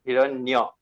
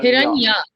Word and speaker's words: Hiranyo: Please try to pronounce my name Hiranyo. Hiranyo. Hiranya. Yes. Not Nya. Okay. Because Hiranya. if you not Nya. Then? Uh, because if you pronounce like Uh-huh. Nya, then it sounds like a girl's name.